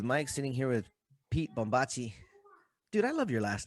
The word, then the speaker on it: Bombaci: sitting here with pete bombachi dude i love your last name oh thanks man is it like is it italian yep yep bombacci nice there you go that's the perfect pronunciation oh wait do you